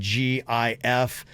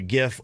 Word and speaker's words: GIF: Well, Jif, J-I-F, the peanut butter, has released special labels with GIF on it that says it's a hard G pronunciation, like the word gift.